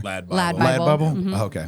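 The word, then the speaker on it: LADbible: Is it LA Bro Bible? I always say it wrong. Or Lad Bible.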